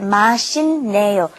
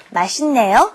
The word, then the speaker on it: 맛있네요: When that 있다 comes up against an N, a nian, then you have to pronounce it as another N. 맛있네요. So let's practice this pronunciation. You should pronounce it 맛있네요. 맛있네요.